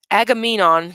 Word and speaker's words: Agamemnon: excuse my language but that's pretty messed up Agamemnon that's how you say his name did not